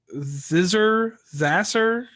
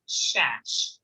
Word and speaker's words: Szasz: It is pronounced Shash.